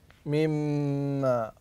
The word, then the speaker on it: مما: تفضل احسنت ميم مشدده الميم المشدده هنا توطى غنه بمقدار كم كم كم حركه احسنت بمقدار حركتين ومخرجها الخيشوم احسنت وطريقه نطقها نطقها نطقها تفضل احسنت ان تركن على الميم تقف عليها وقفه يسيره بمقدار حركتين ثم تتعداها الى ما بعدها فتقول مما مما مما